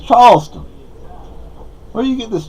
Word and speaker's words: Charleston: Like up here, there's a town called Charleston. Well, that's how I say it. That's how my girlfriend says it. But they don't say Charleston up here. They say Charlestown. Like, it ain't Charlestown. It's Charleston.